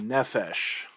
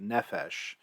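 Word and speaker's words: נֶפֶשׁ: translation you'll see with nephesh is the word soul so i said no fish has a soul another one nephesh sort of rhymes with selfish i mean sorta but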